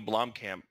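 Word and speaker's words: Blomkamp: and it would what i like a neil blom camp that's how you say his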